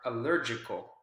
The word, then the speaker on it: allergic: to to double check allergic allergic which syllable is the strongest there it's going to be the syllable that comes right before the suffix i see right allergic is the strong syllable there and that's what